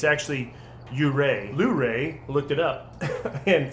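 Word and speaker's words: Yurei: gin mare shade or yuri oh i'm we've been pronouncing that wrong by the way it's actually yuray blu-ray looked it up and found out it's you ray like lou ray but you ray okay then i mean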